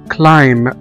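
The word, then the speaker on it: climb: وزي كمان كلمة كلايم، كلايم أو يتسلق، كلايم، C-L-I-M-B، كلايم، هنا كمان ما نطقناش حرف البي.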